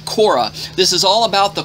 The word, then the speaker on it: Korach: one this is the torah portion of korach or pronounced in english korra this is all about